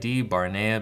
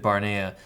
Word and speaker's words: Barnea: like uh division so David Bara let me spell that out for you David da v barnea b a r Nea so David Bara so